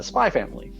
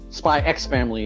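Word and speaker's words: Spy × Family: and jump catalog is spy family yes or spy X family if you decide to pronounce it wrong to be fair to be fair when Japan had decided that using the English letter X was silent in their manga titles I don't think the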